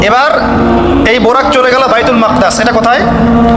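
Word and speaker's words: بيت المقدس: এবার এই বোরাক চলে গেল বাইতুল মাকদাস। এটা কোথায়? বাইতুল মাকদিস, বাইতুল মাকদাস না, বাইতুল মাকদিস।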